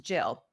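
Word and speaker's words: gill: um Mother Goose version Jill was spelled g i l l which is pronounced Jill but G was a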